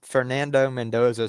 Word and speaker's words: Fernando Mendoza: How do you say I can't I can't pronounce it. It's a Fernando Mendoza. So, like Fernando Mendoza.